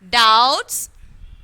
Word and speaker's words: doubt: doubts handkerchief cupboard okay doubts handkerchief cupboard okay so doubts handkerchief and cupboard and in the word doubt the letter b is silent okay first we take